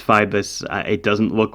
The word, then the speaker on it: Phoibos: F-I-B, a schwa, and then an S. I believe it's Phoibos.